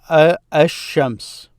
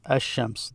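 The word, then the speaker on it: الشمس: So if I say the sun, this will become ash-shams. This is ash-shams. This is the sun, ash-shams. Notice I did not pronounce the L there, so I said ash-shams.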